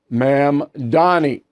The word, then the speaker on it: Mamdani: Zohran, let me say his name correctly, please, Mamdani. A communist, okay? Now, he is a communist, and look, you can say I'm exaggerating or I'm doing stuff politically, but it's not true. If you study Mamdani, as I have, he's Fidel Castro light.